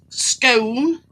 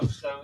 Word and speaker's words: scone: Now, this is the funny thing with this scone or scone. No, scone, you said it right.